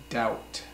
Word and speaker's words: doubt: debt another word is doubt do you BT doubt it's pronounced doubt doubt I doubt that Hosea is going to